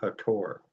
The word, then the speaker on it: Hathor: the Milky Way galaxy by their um God hathor which are Egyptian guide would say the correct pronunciation is hator but we pronounce it as he so with